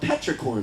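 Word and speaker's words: petrichor: scent it's this earthy scent and it's called Petra corn the way you spell it is p t r i c h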